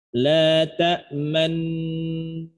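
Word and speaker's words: لا تأمنّا: Saya ulang sekali lagi, perhatikan cara yang pertama. La ta'manna, man, sesudah disentuh man, baru monyong. Manna, jangan dibarengin atau enggak kesentuh nunnya. La ta'manna, mau enggak. Man dulu baru monyong.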